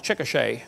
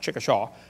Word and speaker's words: Chickasha: 2005 textbook, and I pronounced it wrong as Chickasha, not Chickasha, Chickasha, Oklahoma. I got corrected during the break.